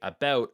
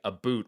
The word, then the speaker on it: about: ear is solid uh a lot of people phonetically when they hear that combination they hear me say about and then they repeat it and they'll say a boot which is completely incorrect but you're dead-on it